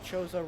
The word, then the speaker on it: Chozo: We got some cleanup done around Kozo Ruins, which I know is actually pronounced Chozo Ruins, but I've been calling it Kozo my whole life, and it's really hard to change that. And we also used infinite